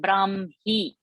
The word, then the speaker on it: ब्राह्मी: So for those who are new, that first word Brahmi. So Brahma. Brahmana. So the pronunciation is first ma and then the ha.